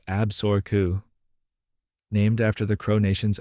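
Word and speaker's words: Absaroka: creating a new state called Absuroka, pronounced Absoru, named after the Crow Nation's own name for themselves.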